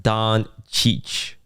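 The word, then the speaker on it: Dončić: We we did an Overwatch sponsor and they had a collab with LA Laker player Luca Donich. Really? And it's underlined in the brief pronounced Don Cheich.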